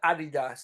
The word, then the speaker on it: Adidas: ] yeah they definitely help I call it Adidas now because that's how oh yeah that's the right way to pronounce it and that's the